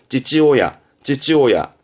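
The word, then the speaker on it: 父親: 발음은 찌찌오야.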